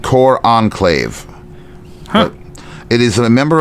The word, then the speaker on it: cor anglais: McCartney is holding and again, how I don't know how I pronounced it, but a cor anglais, pronounced cor enclave.